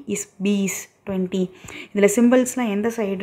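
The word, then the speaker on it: बीस: பி is piece 20.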